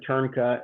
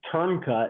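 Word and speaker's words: Trnka: guy that trimmed this foot is named Craig turna and um he's worth following if you do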